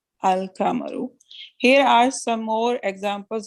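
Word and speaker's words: القمر: No such assimilation takes place with the lunar letters. For example, Al-Kamaru, the moon, is pronounced Al-Kamaru.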